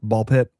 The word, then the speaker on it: BALL x PIT: I don't know if they pronounce the X or not, but you don't. No. Okay. So, it's ball pit.